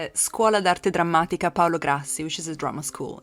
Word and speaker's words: Scuola d'Arte Drammatica Paolo Grassi: It's Scuola d'Arte Drammatica Paolo Grassi, which is a drama school in Milan.